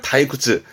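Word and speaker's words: 退屈: 지루한 데를 많이 쓰죠음 좀 재미없고 시시한 걸 타이쿠츠 타이쿠츠 아는 건 거기에 굴복해서 물러났다는 것은 어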